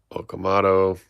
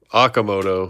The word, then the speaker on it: Okamoto: Dave Winfield Heston Kjerstad Okamoto Okamoto, sorry. Okamoto I don't know why I always put the emphasis on the wrong syllable.